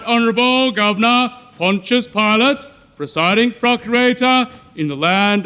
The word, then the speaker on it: Pontius Pilate: okay sit sit and it's Pontius Pontius Pilate you fool it's bad enough I have to be in this backwater without imbeciles like you mispronouncing my name always proud to be